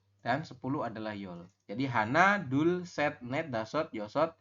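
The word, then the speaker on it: 하나: 1 ini dalam bilangan asli Korea bunyinya adalah hana atau han, ya.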